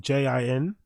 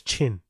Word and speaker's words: Jin: His actual name is Jin, right? As in J I N, but no one can pronounce it. Well, all the idiots in that studio, especially Brendan, namely Brendan, couldn't pronounce Jin, but they mispronounced it as Chin and he just went along with it.